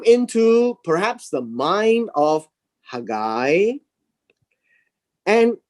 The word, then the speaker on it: Haggai: hand he came to zerubbabel now the word hagai by the way is pronounced hand guy right ha guy and the second name here is zerubbabel now